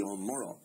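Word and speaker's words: O'Morchoe: our midst in Wexford, and that is the O'Morrow. It causes a bit of confusion. It's spelt the Omorco, but pronounced the Omoro.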